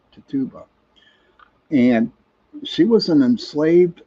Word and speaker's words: Tituba: was her name was Tituba. I think that's how you pronounce that, Tituba.